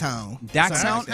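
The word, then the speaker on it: dachshund: It's a dashan. Dashan. Yeah, it's actually it's a German dog, man. Which one? It's a Dax uh Dax. Daxound. Oh, that because it's it's German.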